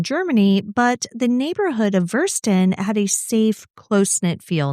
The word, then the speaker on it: Würsten: Good job pronouncing Würsten. I just saw you looking at me. I know the W's sound like V's. Yes. And I know the EI and the IE are flipped from how they are in English.